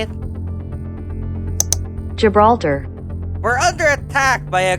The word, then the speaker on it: Gibraltar: Park rebeltar is that how you say it Gibraltar we're under attack by a group of orcas